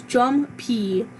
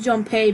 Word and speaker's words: Junpei: I don't Jumpy. It's Jumpy. I pronounced it Junpei because I'm an idiot.